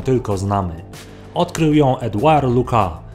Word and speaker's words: Lucas: znamy odkrył ją Eduard Luca niektórzy wymawiają to nazwisko Lucas No ale skoro Jest Francuzem to powinno się chyba powiedzieć Luc Zresztą mnie nazwisko Lucas